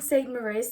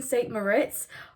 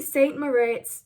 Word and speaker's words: St Moriz: Hi guys, so I'm testing St Moriz today. I think that's how you say it, I'm not actually sure. In the video, I keep saying St Moritz. I thought it had a T in it.